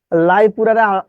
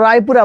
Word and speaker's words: রায়পুরা: বিকৃত উচ্চারণ করতে, যে বললাম যে লাইপুরারে আপনারা কি বলেন? লাইপুরা বলেন। নাম হলো রায়পুরা, বলেন লাইপুরা।